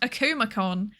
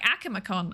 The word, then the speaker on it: Akumakon: Also, I've learned apparently it's pronounced Akumacon. That's what everyone else says. And then there's me like Akamacon.